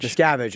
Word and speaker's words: Miscavige: m mavich is how you say his name scavage scavage okay and how did he become who he